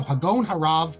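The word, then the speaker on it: הגאון הרב: So Hagaon Harav, you put the stress on the Gaon.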